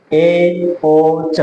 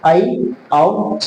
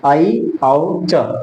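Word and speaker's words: ऐऔच्: ये क्या है, औ, तो इसका शुद्ध उच्चारण होगा आई औ च। क्या बोलेंगे इसको, आई औ च, आई औ च।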